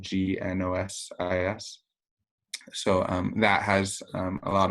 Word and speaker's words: Gnosis: And Gnosis, I should note, is spelled with a G at the beginning, Gnosis.